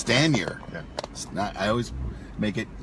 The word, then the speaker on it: Stanier: Stanier. Yeah. I always make it more Stanier. No. But there's no, like, it's not like stain. No, it's Stan. Stan. Like Stan Lee.